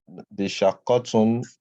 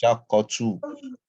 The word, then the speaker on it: الشقة: Not where you have the shaqatun and shaqqa. This is a shaqqatu, not tun.